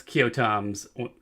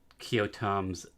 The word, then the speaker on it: Keoghtom: The ointment, well, it's Kyotom's ointment.